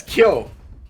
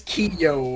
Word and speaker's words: Kyo: saying the main character of King of Fighters' name wrong this entire time, and it just never registered with me. Yo? Yeah, it's Kyo. Ah, Because Kiyo would just be, like, something completely Ryu.